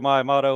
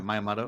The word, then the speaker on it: Miyamoto: Shigeru Miyamoto, whatever you say his name. Yeah, Miyamoto.